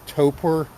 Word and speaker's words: torpor: They kind of get into this state called torpor, I believe it's pronounced, T-O-P-O-R, where they're like, it's almost like suspended animation.